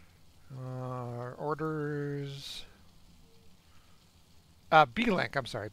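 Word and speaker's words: Beelink: wrong uh orders uh b-link I'm sorry B link like blink b-e-e-l-i-n-k can you post a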